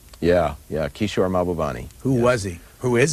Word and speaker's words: Mahbubani: You talk a lot in here about a man named, this may not be the correct pronunciation, Mahbubani? Yeah, Kishore Mahbubani.